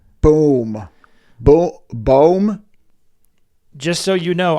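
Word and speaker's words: Bombay: I'm pronouncing Alex Bom Bomb sure how do you pronounce his name I'm the worst it's not bomb it's this is boom boom boom just so you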